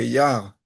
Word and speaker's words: Iyar: Mais comment est-ce qu'on peut expliquer, si on peut dire que Yar, c'est avec un seul Yud, dans le Ani Hashem Ofer, il y a un seul Yud, c'est le Yud de Yud Kevavke.